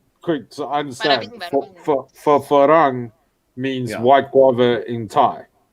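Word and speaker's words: ฝรั่ง: Now, the way you pronounce farang, for us, there's only one like level, farang. Farang means white guava, but you also use farang for a white person. It depends on how hard or how low you say it.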